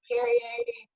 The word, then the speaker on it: Barriere: Barriere, no one can ever say it right. Just think Barriere, just throw a B on it.